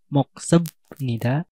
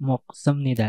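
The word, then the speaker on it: 먹습니다: moksemnita untuk moksemnita itu pengucapannya bukan moksnida akan tapi moksemnida sama seperti Kamsa Hamnida contoh kalimatnya pabel mokoyo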